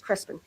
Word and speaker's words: Crespin: My last name is Crespin, Crespin. So I've been pronouncing it wrong. It's Crespin. It depends where you're at. Northern New Mexico, Southern New Mexico. Some people roll the R.